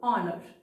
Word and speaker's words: honor: Here the letter H or the sound her is silent. The first sound is O. So that's why we made use of an before the word honor.